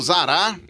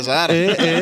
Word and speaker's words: Zara: Estou aqui com meu amigo Zará. Aí, não é Zará, é Zara.